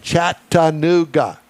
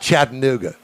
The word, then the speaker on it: Chattanooga: bustling metropolis of Cartersville, Georgia, between Atlanta and Chattanooga. There we go. Absolutely. That's where we are. You know, somebody had an argument. It's not Chattanooga. Okay. Then what is it? It's Chattanooga.